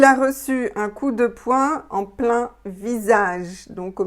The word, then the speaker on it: poing: Donc bien sûr, un coup de poing, prononciation point, voilà, comme un point en fait.